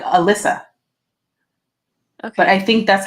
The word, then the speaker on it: Alyssa: I thought it was Elisa this whole time. Elisa. That's what I thought. No, it's Elissa. Elissa? Oh my god. Yeah, she says that the ending is like Alyssa.